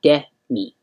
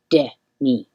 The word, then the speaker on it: Demi: looked it up and it's the opposite of the actress or musician whose name is spelled the same way. That person, she pronounces her name Demi, and this woman, who is the author of this and many other books, is Demi. Demi.